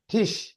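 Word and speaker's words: Tisch: ठिश। ठिश। टिश। ठीक है, ठिश। नहीं तो इसमें आई, इसको हम वो आई नहीं पढ़ेंगे। एग्जैक्टली नहीं, आई ई की साउंड निकालते हैं, ई इसको पढ़ते हैं,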